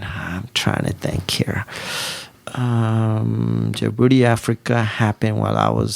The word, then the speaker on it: Djibouti: So yes, the capital of Djibouti is Djibouti.